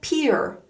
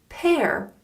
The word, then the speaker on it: pear: pear Paar common mistake this fruit is not called peer it's not a peer it's a pear this pear is over